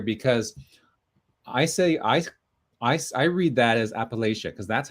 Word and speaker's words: Appalachia: And apparently there's either Appalachia, and you have a hard CH like China, so Appalachia, or Appalachia with a SH.